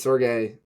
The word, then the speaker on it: Sergei: It's Sergey.